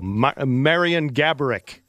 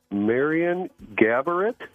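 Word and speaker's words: Marian Gaborik: Marion Gabarick. Marion Gabarick. Marion Gaborit? Gabarick. How pronounce it one more time?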